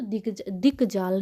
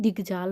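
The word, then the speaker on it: दिग्जाल: भी आ जाता है तो दिक जाल नहीं दिग जाल होता है दिग जाल है दिग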